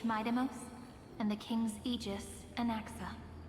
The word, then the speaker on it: Anaxa: She did say anaxa. My brain autocorrected that and I didn't read it as the spelling myos and anaxa.